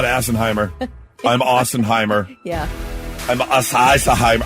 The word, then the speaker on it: Assenheimer: Well, it is German, and it is pronounced Assenheimer. Okay. Joel Assenheimer looks like a cool dude.